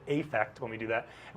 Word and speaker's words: affect: Sometimes we use affect with an A and we pronounce it affect when we do that.